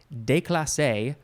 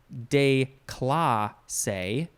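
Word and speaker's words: déclassé: that were that way de clase or de cla say de cla or cla de class say i think de clase makes much more sense because this is french de clase there is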